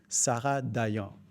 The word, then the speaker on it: Sarah Dayan: And I can say it properly, Sarah Dayan. Alors Sarah, on y va.